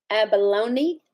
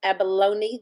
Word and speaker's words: abalone: on his vintage Gibson Abalone Abalone is that what you're saying abalone the E is long Abalone oh he's still saying abalon she's saying a long e Abalone don't know we